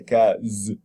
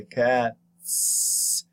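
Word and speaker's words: Katz: For example, the German name K-A-T-T-Z, cat. How do you say? You don't say cat z. No, you say cats. You make the z letter into an s phoneme because the t is voiceless.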